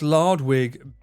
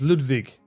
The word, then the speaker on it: Ludwig: How is Lardwig better than Ludwig? No. What? Where did Lard come from? He never said that. He said Ludwig or Ludwig. But it was Ludwig. That's how you should pronounce it.